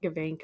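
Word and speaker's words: Gebink: So, it's Gabink, right? Yes. Uh I pronounce it gabbank. Everyone else in my family pronounces it gabank.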